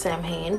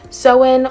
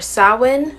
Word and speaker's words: Samhain: It looks like Samhain, and I thought it was pronounced Samhain, but it's actually pronounced Samhain or Samhain.